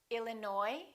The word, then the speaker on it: Illinois: cupboard my kitchen cupboard silent s arkansas illinois island debris all right one more